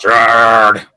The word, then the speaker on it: Gerard: actually pronounced Gerard.